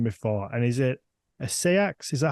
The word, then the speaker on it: Seax: It's spelled Sax or Seax, isn't it? So it could be either. Okay. Most people tend to settle on Seax.